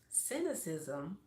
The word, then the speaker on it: cynicism: But cynicism, in the first beginning of the word sin, CYN, but it's pronounced sin.